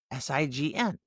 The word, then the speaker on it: sign: Take the word sign, S-I-G-N, sign. But when I add the suffix A-T-U-R-E, it's signature. Now, the I goes from long to short, and you hear the G and the N.